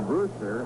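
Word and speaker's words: Brusstar: Warren Brewster, and he spells his name B-R-U-S-S-T-A-R, but pronounces it as it were spelled phonetically Brewster, and there's a good story behind that.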